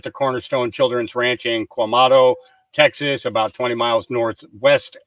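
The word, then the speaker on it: Quemado: Okay, so let's get our logistics correct here, and not be Quamato, I believe it's pronounced Quamato, Texas, Queumado, Texas.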